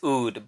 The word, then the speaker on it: Aoud: Is it Aoud or is it Oud? And the A is silent. People say it's Oud, but I like to say Aoud because I've had several sales reps actually pronounce it Aoud.